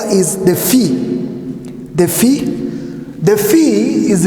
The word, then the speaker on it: phi: This one is a phi, and you can only pronounce it better in the pronunciation from the word graphic. The phi.